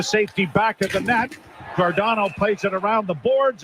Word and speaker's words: Giordano: I'd always called him Giordano. Yeah. And his nickname is Gio. But he wants to be known as Giordano.